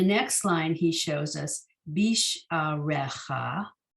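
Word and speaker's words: בִּשְׁעָרֶיךָ: Then the next line he shows us, bisharecha. Again, the yud is silent. And when you look to the left, you see one less letter, bisharecha.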